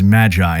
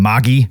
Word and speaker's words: Magi: are probably wrong, because if we were to pronounce it more in an actual Arabian accent, it would be something along the lines of Magi or Magi, kind of like the word genie, because genie comes from the